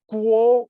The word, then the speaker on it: Guo: pinging translucent transliteration system is pronounced like a K in English Okay so it's called